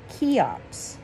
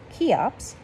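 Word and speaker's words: Cheops: by a king named chiops that name is pronounced just like kiops here is his date keops 2900 bc my goodness son i feel like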